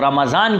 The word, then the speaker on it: رمضان: اس کی سپیلنگ بھی اگر آپ دیکھیں تو رمضان کی سپیلنگ RAMDAN، رمضان۔ تو اصل میں رمضان ضاد